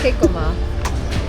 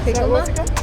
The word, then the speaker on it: jicama: So, this is jicama. Jicama? Jicama.